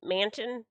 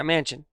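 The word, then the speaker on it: Manchin: happened a few days ago but joe uh manson how do you say his last name manson yeah mansion and he stopped the climate change funding that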